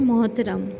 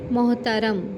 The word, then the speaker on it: محترم: پاس لفظ ہے محترم۔ بہت سے لوگ بولتے ہیں محترم، یعنی تے کو بھی ساکن کر دیتے ہیں، تو درست تلفظ کیا ہے؟ محترم۔ محترم کو دیکھتے ہوئے